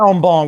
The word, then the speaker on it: en banc: I say en banc with a silent C, but I guess at some point you're probably right.